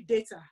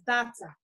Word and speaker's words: Data: But every time somebody called me Data, I said, no, it's Data.